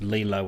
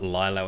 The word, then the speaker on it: Lilo: Before we get the emails, it's pronounced Lilo and Stitch, not Lilo and Stitch. Lilo is an Australian term used for a beach type of couch that we extend and lie on.